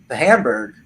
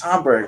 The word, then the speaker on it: Hamburg: And he said he was talking about how he traveled, you know, and he'd been to Hamburg, and which is not how you pronounce it.